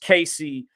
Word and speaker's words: Cassie: the name of uh Cassie or some may say pronounced Casey that uh filed a